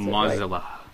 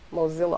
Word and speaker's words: Mozilla: if I pronounce it MOA Moosa Moosa Mo I don't know mozzilla I think Mozilla I think about Godzilla yeah and you know the movies that's a good way to remember yeah mozzilla Godzilla now do you